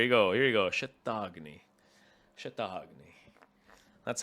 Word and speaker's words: Shatagni: Shatagni.